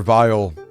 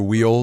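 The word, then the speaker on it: Weil: Vile, which is, you guys might call him Dr. Wheel, W-E-I-L. I've learned that it's pronounced Vile, it's like German or something, from Zero, the Zero series.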